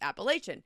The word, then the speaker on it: Appalachian: lives in that area they're gonna tell you it's appellation so I play Google pronunciation